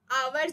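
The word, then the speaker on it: hour: जैसे आवर जो है यानी कि घंटा, एच ओ यू आर, तो इसमें जो है एच का, एच की आवाज़ उतना, एच का साउंड नहीं निकाल जाता, एच जो है इसमें साइलेंट होता है, तो इसमें हम एन लगाएंगे.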